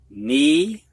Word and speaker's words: knee: All right, we're going to have words now that have a silent K in them before an N. You don't hear that K. Knee, knelt, knit, knife, knew.